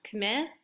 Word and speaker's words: Khmer: the people of Cambodia are called combined also pronounced Khmer I'm not really fussy on which pronunciation you use but partly Khmer us a correct one if we go back